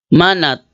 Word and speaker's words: Manat: Para makita ninyo, Manat. Si ano lang muna, mag-focus tayo kay Manat. Manat. Ito. Ito. Ayan o. Si Manat. Sino si Manat? Manat. Yan. Arabic pronunciation, Mana.